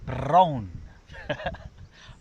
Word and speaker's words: brown: And it sounds nearly the same in Welsh. You've got to roll your R like a motorbike. Brown.